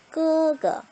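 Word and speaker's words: 哥哥: 예, 끄라고 읽는데요. 오빠, 형이라고 하는 의미를 갖는 단어입니다. 높낮이가 엄마랑 같아요. 그럼 어떻게 읽는다? 마마, 끄그, 마마, 끄그.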